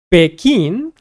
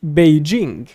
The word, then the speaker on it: Beijing: So some people might say Beckin, others might say Beijing. I personally say Beijing. Beijing or some people don't pronounce DG Beijing or Beijing. So different people say it differently.